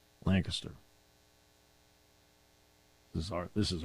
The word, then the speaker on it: Lancaster: St Mike Gross from Lancaster not Lancaster Lancaster this is our this